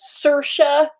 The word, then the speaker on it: Saoirse: her big breakthrough role it is pronounced sirsha uh it took me years to know how to pronounce her name like i i never i it was the thing where it's like i'm not even gonna attempt that okay like there's there's like too many vowels together i don't i don't